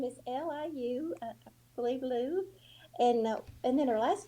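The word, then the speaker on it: Liu Yifei: Her first name is Liu, I believe Lou, and then her last name is spelled Yifei. So Yafei, maybe I'm not Yeah, sure.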